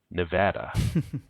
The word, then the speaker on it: Nevada: It's Nevada. Or, as they pronounce it for some unknown reason, Nevada.